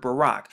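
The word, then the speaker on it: ברך: as you can see the first letter is the both which is the bee the rash which is the r and then the cop right here to get the k right here to get barack barack barack now when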